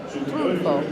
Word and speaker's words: Triunfo: Trunfo.